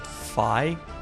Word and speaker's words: Fi: placed in the franchise oh it's pronounced phi well that was good